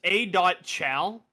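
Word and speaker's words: A.Chal: I've never known how to say his name, but it's Achal with a dot between the A and the C. Um, it's A dot Chow.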